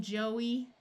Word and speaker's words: Joey: EY can have a long E sound at the end of a few shorter words, such as key, the name Joey, and this Joey that refers to a baby kangaroo.